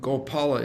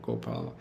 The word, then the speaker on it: Gopala: Gopala is is technically more correct. But it but it's in our books it's it's both. You're going to see it all over the place. Go Gopala. Even some of our songs, Gopal Govinda Ram Shrimad Sudan, Giri Govardhan Gopinath Madan Mohan. Right? Even in the songs that we hear from our acharyas. Gopal and Gopala.